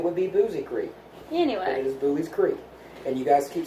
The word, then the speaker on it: Buies Creek: going to it for correctly pronounced boobies pretty and if you call it boozy Creek Ethan will freak out because it's like wrong it's Buies Creek that's how it's spelled if you want to